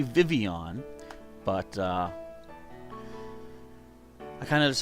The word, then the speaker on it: Vivillon: So it is supposed to be Vivian, but I kind of just like saying Vivillion just for fun.